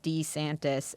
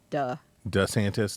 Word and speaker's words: DeSantis: to start pronouncing his last name duh instead of D so it's Ron DeSantis not Ron DeSantis well he it apparently it's D santis and she is the one who urged him to begin pronouncing it duh DeSantis like as in the Santos yes Italian for the santis um I I that's